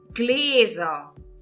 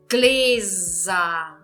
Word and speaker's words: Gläser: O plural dessa palavra se escreve gläser. Gläser. Gläser. Estão vendo aqui o que está acontecendo? Eu estou pronunciando com som de Z. E que letra eu escrevo se eu estou pronunciando um Z no alemão?